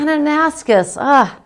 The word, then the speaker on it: Kananaskis: So, this is a really kind of bright, fun, glittery scene from, gosh, Eric, maybe you can help me pronounce it. Kananaskis State Park. Kananaskis.